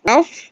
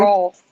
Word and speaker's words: Rolf: Ralph? Am I saying it wrong? Rolf. Ralph. Rolf. Rolf, the dog.